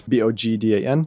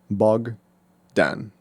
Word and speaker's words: Bogdan: It's literally 2 syllables. Bogdan, so Bogdan.